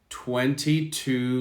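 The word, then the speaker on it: two: to 12 on wednesday 22 languages 22 languages now do you notice t w e is 12 20 t w o is with no w sound 2 2 22 this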